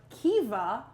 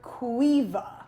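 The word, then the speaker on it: Caoimhe: This has two pronunciations depending on where you're from in Ireland. It's either Kiva or Quiva.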